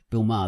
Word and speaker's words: Bill Maher: Bill Maher, that's how you say his name.